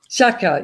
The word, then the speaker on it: Shaka: agile coach for Colinet, and Shaka. Am I pronouncing that right? Shaka, yes.